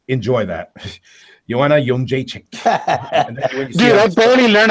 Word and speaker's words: Jędrzejczyk: So apparently, the real pronunciation is Joanna Jędrzejczyk.